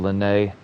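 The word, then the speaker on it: Lyney: Yeah, it's Len. That's how to say his name.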